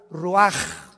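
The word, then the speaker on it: רוּחַ: y exhaló Isaac el Roach así como suena se pronuncia la c en hebreo como J ruaj se le só y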